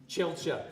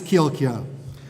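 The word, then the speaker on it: Kjielkje: What is the proper pronunciation for handmade egg noodles? Ichiban, Kilka, or Chilcha? Chilcha. Ooh. Wrong. It's Kilka.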